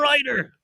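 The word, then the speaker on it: Ruiter: Daryl Ryder. Ryder. Oh, really? Ryder. I always Reuter mispronounce.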